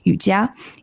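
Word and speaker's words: Yujia: is and then my chinese name which is spelled y-u-j-i-a yutiya and my last name which is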